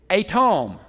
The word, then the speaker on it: Edom: how you pronounce it atom so you got to remember it's not southern English that's Hebrew right now at Tom